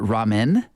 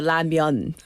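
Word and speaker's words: 라면: All right, Ramyeon, you want to go? Ramyeon. When's the last time? ramyeon? Yeah. Oh, sorry. Yeah, how do we say? In the U.S., I think I always called it ramen.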